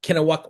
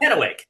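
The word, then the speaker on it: Kennewick: trusty cohort, Steve Lambert, up from Kenowak, Washington. Not sure if I pronounced that right. You were close. You were close. Don't ask me to spell it. Kenowick. Kenowick, Washington. So, okay.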